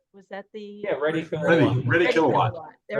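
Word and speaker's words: Reddy Kilowatt: And I remembered Small World, and I remember I'm going to say his name wrong, but I think it was Eddie Kilowatt. Was that the yeah, Ready Ready, Kilowatt.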